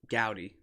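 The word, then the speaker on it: Goudey: always pronounce it wrong audi gowdy it's like foddy they're in 1933 gabby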